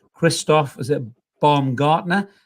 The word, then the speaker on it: Baumgartner: It was scored by, excuse my pronunciation, Christoph, is it Baumgartner? Baumgartner.